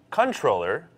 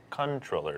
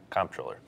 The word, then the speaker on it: comptroller: it is actually pronounced controller it's a person who's in charge of financial accounts but it is pronounced controller not comptroller well I look pretty